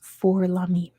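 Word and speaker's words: Fort-Lamy: Or probably pronounced For Lamy, because it's French.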